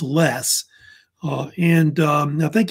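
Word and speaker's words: loess: soil which is pronounced less like just don't use the o just just take it out Sil but it's usually pronounced less uh and um I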